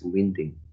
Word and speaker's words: winding: line the first words this is winding and you pronounce as winding okay a third epigenetic